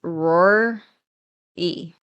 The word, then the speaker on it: Roary: Except for this one is Roar E. It's spelled Roary.